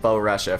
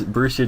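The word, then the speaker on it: Borussia: Lars and the brucia Donan is that how you pronounce it I've been saying Bo Russia for the past like four SE bruscia no it's brucia dortman oh it's a socc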